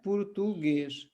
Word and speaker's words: português: सही उच्चारण क्या है, पुर्तुगेज, ठीक है, पुर्तुगेज।